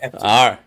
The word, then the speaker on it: Epting: Is Epting the proper pronunciation there? You got it right, Baco. Epting.